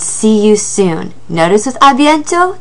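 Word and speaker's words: à bientôt: you soon notice with abiento there's a t on the end that is also silent so that does it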